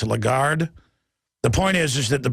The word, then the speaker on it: Lagarde: How do you pronounce her name? I always say Lagarde, but it's Lagarde.